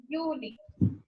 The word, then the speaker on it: Juli: July will be pronounced as Juli.